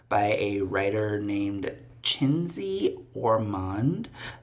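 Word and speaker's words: Czenzi: published in 1954 by a writer named named chiny orand chiny spelled CZ n z i orand you can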